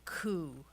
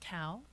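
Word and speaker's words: Kow: Yeah, this story is um it's called The Headley Coup, and some of you might think it's actually pronounced cow, but it's not.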